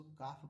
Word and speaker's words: calf: Same उसी तरह एफ से पहले क्या, देखिए यहाँ पर CALF, इसको काफ पढ़ते हैं, काल्फ नहीं पढ़ते, इसको हाफ नहीं पढ़ते, इसको हाफ पढ़ते हैं, ठीक है।